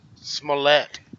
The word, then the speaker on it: Smollett: back in the news Smollett that's that's how you say it smell that smell let's